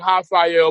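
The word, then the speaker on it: Raphael: a sun KO and I'm saying hael but it's spelled with an R that's how Brazilian names are pronounced the r is it has an a sound and it was it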